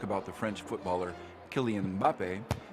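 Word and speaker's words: Mbappé: French footballer kylian mbappe they often find themselves inserting a third syllable to make it more pronounceable it's because in English starting a word with an m and a b next to each other is just not done so people find themselves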